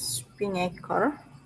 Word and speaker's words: Spinnaker: This pronunciation is Spinnaker, open source multi-cloud container delivery platform.